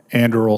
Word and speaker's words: Anduril: You're coming from Anduril Industries, is that correct? Is that how you pronounce that? Anduril, Senator, yes.